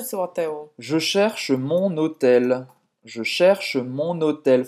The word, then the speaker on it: mon hôtel: Je cherche mon hôtel. Je cherche mon hôtel. Faz a ligação. Mon hôtel. Ou seja, entre o N e o H aqui, é como se fosse uma só palavra, né?